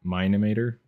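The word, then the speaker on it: Mine-imator: models for my character I use mine mine emitter yeah that's how you say it up up there we go good old minimator I would like to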